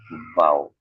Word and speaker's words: V: V ini dibacanya vau.